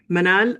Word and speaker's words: Manal: No you pronounce it correct manal uh digital financial services consultant.